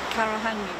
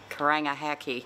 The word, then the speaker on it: Karangahake: And can you pronounce the gorge which is nearby? Karangahake gorge. Karangahake. Kakaranga. Oh, I'm not. Karangahake.